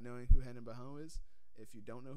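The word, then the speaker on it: Barão: I think I saw it on Wikipedia. It was supposed to be pronounced Baron.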